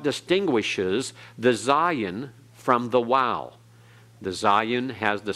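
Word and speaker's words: Waw: The next one is Wow, transliterated with a W. And sometimes it's translated with a V for modern Hebrew pronunciation and modern Hebrew Hebraists. And so the sound is like in wow, or in modern Hebrew it has the sound of a V like in vat.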